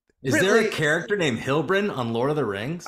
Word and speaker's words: Heilbron: Heilbron, right? I said it right? You nailed it. You Hell yeah. stuck the landing. It helped me to think about Heilbron from Lord of the Rings, the TV show.